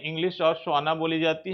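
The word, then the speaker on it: Tswana: और इंग्लिश भाषा बोली जाती है और तोस्वाना भाषा बोली जाती है। टी को साइलेंट कर दीजिए, सवाना बोलिए, सवाना भाषा। टी उच्चारण नहीं होता है, जब इसके पहले टी होता है तो स्वाना बोली जाती है।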